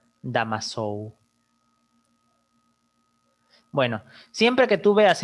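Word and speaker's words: Damoiseau: ya pero se pronuncia se escribe pero se pronuncia damas show bueno siempre que tú veas en una placa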